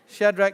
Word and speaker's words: Shadrach: You've heard the story of Daniel, Shadrach, Meshach, and good pronunciation, son. Yes. Bonus points for you. Shadrach, Meshach, and Abednego.